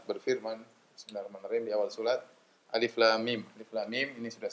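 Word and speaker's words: الم: Bismillahirrahmanirrahim, di awal surat, Alif Lam Mim. Alif Lam Mim ini sudah sering kita bahas, ya. Dia adalah huruf muqatta'ah, yaitu huruf yang terputus-putus sehingga tidak dibaca alam tetapi dibaca alif lam mim, sehingga tidak perlu ditafsirkan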